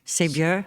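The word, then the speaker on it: Saveur: How do you say that? Sévure? Sévure? It's a French name. Sévure. Sévure? Okay. Wanted to make sure I got that right.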